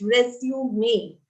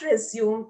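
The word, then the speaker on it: résumé: cv or resume may by the way it's pronounced resume me you know there are many who say resume it is not resume it is resume me send us your cv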